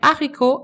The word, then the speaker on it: haricot: Ce que vous trouverez très certainement est haricot, mais haricot, attention, le H n'est pas muet, le H est aspiré. Il faut donc dire, il y a un haricot, il y a des haricots.